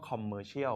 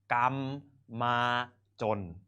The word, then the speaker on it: commercial: commercial นะ ครับ แต่ ใน สมัย ก่อน เนี่ย ออก เสียง คำ ว่า commercial ไม่ ได้ commercial คือ อะไร นะ ครับ ไม่ เข้า ใจ นะ ครับ คน ไทย ก็ เลย ต้อง ออก เสียง โดย การ ออก เสียง แบบ ไทย ๆ นะ ครับ หรือ การ ลาก ข้อ ความ ก็ คือ เป็น แบงค์ สยาม กรรม มา จน คำ ว่า กรรม มา